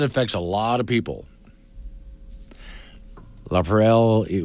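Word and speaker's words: LaPrele: La Perelle, we pronounce it as one word.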